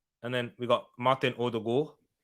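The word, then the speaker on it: Ødegaard: then we've got martin odo because the two ace in norwegian has an o sound had it from the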